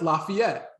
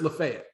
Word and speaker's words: Lafayette: you would look like and say oh that's lafayette well here it's lafayette uh there's a city in tennessee a town